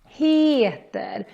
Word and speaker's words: heter: And then heter, here we need to kind of pull out the E when we say it. Heter.